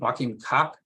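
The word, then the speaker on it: Joachim Kock: or understood, which by Joachim, how do you pronounce his name? Joachim Koch?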